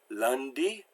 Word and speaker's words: lundi: Now there's also U-N and U-M, and this is less common, except for the word a, an, or So it's like pronounced like in grunt. We have that sound. So we have the words lundi, and parfum. Now it's interesting that in modern French, this sound is starting to disappear, and it's becoming more like an.